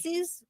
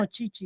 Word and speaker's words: Chi-Chi's: Cece's? No, Yeah. Chi-Chi's.